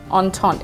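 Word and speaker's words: Entente: name of your business on taunt it's not spelled that way but that's how it's pronounced can you tell me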